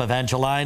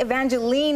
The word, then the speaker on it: Evangeline: think it's you know i think evangeline is more a canadian expression or or pronunciation of the name because here everyone wants to call me evangeline is that right and